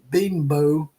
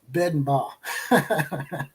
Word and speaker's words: Bedenbaugh: Like I said, instead of Bill Bedenbow, I'll say Bedenbaugh.